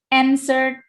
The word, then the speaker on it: answered: The caterpillar answered, bacanya W-nya silent W. So you don't have to read the W. You don't have to say answered, no.